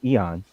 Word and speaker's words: Aon: Eon, because it's spelled with an A, but it's pronounced with a Eon because it's Well, Trevor.